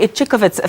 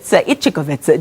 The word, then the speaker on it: Ichikowitz: The chairperson of the foundation, Ichikowitz, joins us. In my head, I'm thinking about how you taught me how to say it. Think of itch.